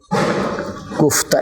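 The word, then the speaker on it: گفته: جیسے گفتہ، یہ ہے، یہ تاجیکی اور افغانی میں الف کا ہے، لیکن جدید فارسی میں یہ ہائے غیر ملفوظ ہے جو یہ کا تلفظ، یہ آئے گا گفتہ.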